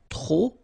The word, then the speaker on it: trop: Okay, remember, too many, trop, don't pronounce the final P.